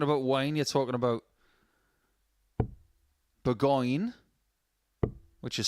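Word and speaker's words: Bourgogne: And when you're talking about wine, you're talking about Burgoyne, which is spelt differently in 65.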